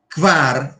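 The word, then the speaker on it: kvar: Quar é a mesma coisa do quin só tem uma sílaba.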